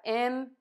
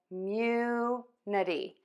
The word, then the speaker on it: immunity: And in this case, it's still the U. So that's why this confuses some people, because we don't change that stress. So we have immunity, immunity.